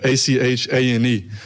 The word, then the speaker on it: Etienne: So growing up, it's Travis Etienne. So it'd be like Achane. And that's how you always said Travis Etienne.